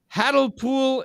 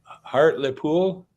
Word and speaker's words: Hartlepool: He's from Hartlepool, England.